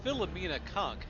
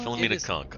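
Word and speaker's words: Philomena Cunk: So So her last name is spelled C N K and it's Filamina Kunk and it's an act.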